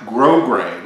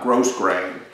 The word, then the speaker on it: grosgrain: uh what's called a grosgrain ribbon a black grosgrain ribbon uh it's spelled g-r-o-s-g-r-e-i-n one word uh but it's actually pronounced grograin not gross grain and all grosgrain means